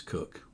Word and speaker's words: Kok: last name is pronounced for a long time I pronounced it cook then I don't remember how or when but somehow I got the idea that it was and now I'm being told it's cook so I defer to the